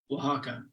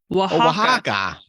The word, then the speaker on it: Oaxaca: no let's see here how to pronounce here we go Oaxaca Oaxaca oh come on Oaxaca that sounds right Oaxaca Oaxaca aren't you